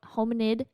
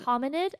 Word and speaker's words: hominid: early phases of homo homid and human evolution did I say that right homid hominid okay but everything's pronounced homo